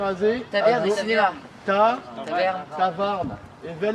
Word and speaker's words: tafarn: Tavarn. Et vel e brezonek. Vel me skrivet en un doa real. La réflexion Cinéma. et ta farde. Non, Tavarn.